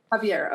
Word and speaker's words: Javier: Javier.